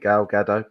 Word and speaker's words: Gal Gadot: Is that how you pronounce it? Gal Gadot.